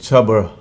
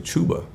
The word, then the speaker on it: Chuba: about the rushing and chubber hubbard man i said his name wrong it's actually chuba i haven't got the